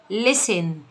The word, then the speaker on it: listen: يستمع إلى listen، بص التي دي سايلنت اوعى تنطقها، اول حاجه تقوليها له سيبيه يقراها لوحده، هيقول لك listen to، زي I listen to my teacher.